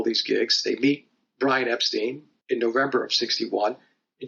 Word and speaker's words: Epstein: 1961 they connect with Brian Epstein or Epstein depending upon how people want to pronounce his last name and Brian meets them